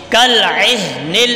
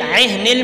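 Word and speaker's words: كالعهن: کالعہن، عہن میں عین کی آواز صحیح نکالنی ہے. عہن، دونوں مشکل حرف ہیں، دونوں کی آواز صحیح طرح سے نکالنی ہے تبھی تلفظ درست ہوں گے.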